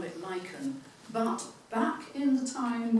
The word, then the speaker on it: lichen: These days, we pronounce it lychen.